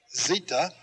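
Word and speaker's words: zeta: as in let epsilon zita is a z sound zita aspirant th as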